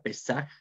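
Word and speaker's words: פסח: pascua la pascua y su nombre en hebreo pesar ustedes pueden ver ahí tres letras hebreas es la pei las ama y la red su nombre son se pronuncia pesar y su significado es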